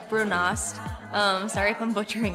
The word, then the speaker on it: brunost: going to be awesome the brown cheese is I think it's pronounced brunost um sorry if I'm